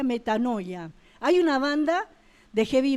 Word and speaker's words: metanoia: Sí, se escribe metanoeo, pero se pronuncia metanoia.